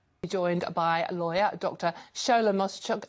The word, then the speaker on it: Shogbaminu: Now read it phonetically. Shogbaminu. Okay, Shogbaminu, but well There done.